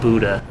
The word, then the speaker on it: BUDA: It's called Buddha. Buddha. Believe it or not. Okay. It's spelled differently. It's BUDA, Boston Ultimate Disc Alliance.